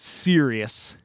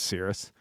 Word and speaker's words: Sirius: Uh some some people I think pronounce it Sirius, but I believe it's Cirrus.